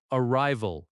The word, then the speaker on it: arrival: Arrival. Arrival. Stress on the second syllable again.